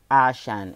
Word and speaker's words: ASEAN: Asia most specially in ASEAN or ASEAN or ashen it actually has two pronunciation like ASEAN or ashen and we are actually